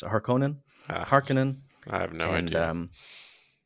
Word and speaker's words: Harkonnen: How do you pronounce it? Harkonnen? Ah, Harkonnen.